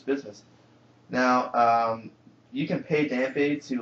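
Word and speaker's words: Dampé: But he's got the E with the apostrophe, with, like, you know, fiancé, so it's most likely Dampe.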